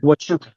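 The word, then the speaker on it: Huachuca: Am I pronouncing that correctly? Uh, wuka, wuka, wuka.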